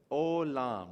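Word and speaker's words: עולם: Olam, right? You got the silent letter, ayin, with the vav, so the o, and then the lamed with the lam, closing with the m sound, olam.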